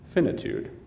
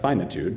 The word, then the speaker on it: finitude: Finitude. It's sometimes pronounced finitude, but I learned it as finitude.